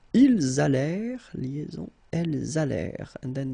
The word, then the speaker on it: allèrent: Ils allèrent, liaison, elles allèrent. And then this ENT at the end, you know, mark for the plural, well, clearly you don't pronounce it, so you get allèrent.